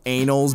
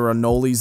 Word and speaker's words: anoles: Okay, actually, this happens a lot when, these are called, they're technically pronounced anals, but they're anoles is what a lot of people call them.